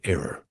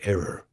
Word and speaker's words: error: Don't make an error when you're pronouncing the word error. Don't say error. Say error, okay?